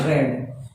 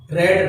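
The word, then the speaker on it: read: यानी रीड रेड रेड, spelling same होती है बट इनके उच्चारण अलग होते हैं। तो फर्स्ट होती है रीड, सेकंड होता है रेड, थर्ड भी होता है रेड। तो आप इसका जो प्रोनाउंस है वो आप रीड नहीं करेंगे, रेड करेंगे थर्ड फॉर्म।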